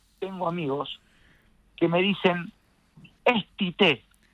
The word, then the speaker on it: Tite: Sí, la verdad que Chiche, sí. Chiche o Tite. No, bueno, es pero Tite. La pronunciación de Chiche Helblum.